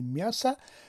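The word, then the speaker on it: мясо: زده در بالای حرفی ی افتاده و برای همین هم این هیجا بلندتر تلفظ می شود و ما نمیگوییم که میاسا، ما میگوییم که میاسا، یعنی میا رو بلندتر تلفظ میکنیم.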